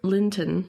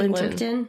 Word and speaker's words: Linton: Well, especially Linton. Did I say it wrong? Did I say Limpton? Like the tea? Yeah, but I thought you said Limpton. Yeah, but his name is Linton.